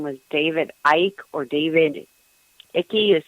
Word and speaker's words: Icke: His name was David Icke, or David Icke, is spelled I-C-K-E.